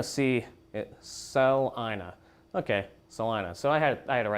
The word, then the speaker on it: Celina: somebody in north celina that's pronounced celina celina pea-sized hail and far